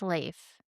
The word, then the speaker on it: Leif: The name is pronounced Leif.